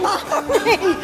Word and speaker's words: Māori: Oh, the Māori. That's the correct pronunciation.